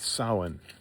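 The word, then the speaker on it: Samhain: pagan Celtic festival called sain and it's not spelled like that. You have to look up the spelling but that's the way you pronounce it.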